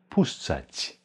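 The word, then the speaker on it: puszczać: lassen Push Zeit postzeit P gefolgt vor einem schönen u danach ein SZ welches als Spiel spielen Schule Schuh ausgesprochen wird also Push danach ein CZ welches wie in Tscheche oder tschüss ausgesprochen wird also pusht danach ein A pusza und dann ein C mit Strich welches breit gesprochen wird pusht seit pusht steigen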